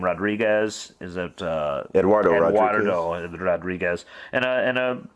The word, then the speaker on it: Eduardo: say his first name rodriguez is that uh eduardo rodriguez and uh and a bunch of other